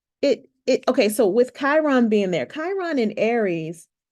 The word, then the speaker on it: Chiron: how Chiron right here this K in the middle even though Chiron is spelled c h